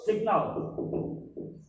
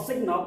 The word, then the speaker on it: signal: Itu signal. The pronunciation of signal is signal, not signal ya.